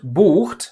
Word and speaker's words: bucht: By the way, the reason the word bucht, like in er bucht, he books, is pronounced with a long U has to do with the fact that vowel length does not change during verb conjugation.